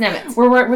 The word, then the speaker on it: Nemec: So it's kind of like it looks like Nemec. But it's not. It's Nemec.